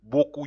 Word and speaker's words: beaucoup: Beaucoup. You pronounce. Is pronounced beaucoup. You don't pronounce the P at that.